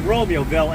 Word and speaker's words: Romeoville: Where I just was called Joylet, rhymes with toilet, and Romeoville, as in the play Romeo and Juliet.